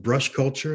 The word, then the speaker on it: Brush Culture: i'm the founder of brush culture that's the way that's pronounced i'm excited to tell